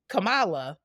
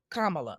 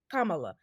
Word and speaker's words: Kamala: understand her frustration of being called Kamala instead of Kamala her name is Kamala it's not that damn difficult just like my name